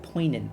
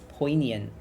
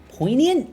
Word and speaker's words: poignant: More like poant. Okay. Okay. I also thought it was poant. This is fascinating. Poignant. Poignant. That's how you That's that word.